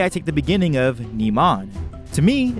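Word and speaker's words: Niman: take the beginning of naman to me if naman was meant to be spoken with a more active eye it would be spelled as Neyman instead of naman and when it comes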